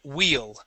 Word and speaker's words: wheel: okay all right so when you have a double e okay that makes a uh an e sound like a Spanish e so wheel wheel okay now at the end of that word you added a t okay we want to end with an L wheel wheel there you